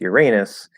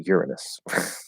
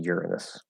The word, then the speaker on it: Uranus: And that last one is a technicality because it used to be pronounced Uranus, and then that became a joke because it sounds like your anus, and so they changed the pronunciation to Uranus. I'm pretty sure that's how that went. But anyway, yeah, it's supposed to be Uranus.